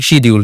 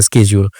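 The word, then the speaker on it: schedule: একটা ওয়ার্ড আছে শিডিউল, British people they are saying শিডিউল, ছোটবেলা থেকে আমরা শিখছি শিডিউল, বড় হয়ে আপনি জানতে পারছেন স্কেজিউল, আমেরিকানরা বলতেছে স্কেজিউল। এখন প্রোনাউন্সিয়েশন তো দুইটা হলো, রাইট? তা আপনি কোনটাকে ভুল বলবেন, কোনটাকে ঠিক বলবেন? দুইটাই কিন্তু ঠিক, একটা আমেরিকান অ্যাকসেন্টে ঠিক, একটা ব্রিটিশ অ্যাকসেন্টে ঠিক।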